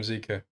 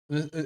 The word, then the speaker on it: Zeka: Why'd you call him Zika? I don't know. I just read his name like that, so it just became habit. Oh, so you've just But it's decided. Zeka.